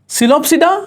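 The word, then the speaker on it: Psilopsida: पिसल सिलोप्स नहीं आया पी साइलेंट है बेटा सिलोप्सिडा सिलोटम आ जाएगा याद करने की जरूरत नहीं है।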